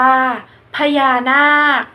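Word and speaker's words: พญานาค: อ่าน ว่า เชื้อ โรค พญา นาค อ่าน ว่า พญา นาค คำ ทั้ง 2 คำ นี้ สะกด ด้วย ค ควาย แต่ จะ ออก เสียง เหมือน ก ไก่ สะกด ค่ะ และ ตัว สุด ท้าย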